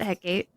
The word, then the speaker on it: Hecate: I work with Hecate, Hecate. A lot of people pronounce it many different ways. I pronounce it Hecate.